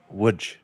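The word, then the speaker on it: Łódź: in Wood Poland which if you look at the spelling it says L O DZ it is pronounced wood.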